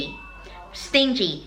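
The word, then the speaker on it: stingy: ไป คือ ขี้ เหนียว s t i n g y ออก เสียง ว่า สิ่ง ที่ ซิง กี้ ขี้ เหนียว เช่น เขา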